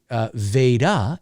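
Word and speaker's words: Vada: Well, Veda, first of all, is spelled V-A-D-A, like Darth Vader.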